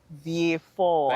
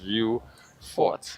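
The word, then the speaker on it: Vieux Fort: I know you say V4 all the time. I always wondered about that. Yes. V4. People have anglicized the name a lot. Um and they spell it as it looks. View Fort, right?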